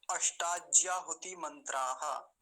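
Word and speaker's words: अष्टाज्याहुतिमंत्राः: अष्टाज्याहुति मंत्राः, ऐसा इसका उच्चारण होगा। मंत्राः क्यों लगा? क्योंकि 8 मंत्र हैं। एक मंत्र होता केवल तो क्या कहते? मंत्रः। अब 8 मंत्रों की बात चल रही है तो हम बोलेंगे मंत्राः।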